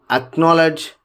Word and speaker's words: acknowledge: The rule one here is the letter C is usually not pronounced in the combination of S and C. Here, if you just look at scissors, ascent, fascinate, muzzle, in all these, C is silent.